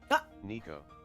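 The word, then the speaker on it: Neko: Try N E KO. Try that one. Well, I'm waiting. Nico, there you go. That's how you say it.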